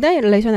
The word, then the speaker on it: annihilation: annihilation 할 때 요 H는 묵음입니다.